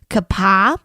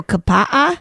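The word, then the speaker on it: Kapaʻa: I have heard that in the Hawaiian, like when in pronouncing Hawaiian words, you pronounce every vowel. Oh, so kapa'a?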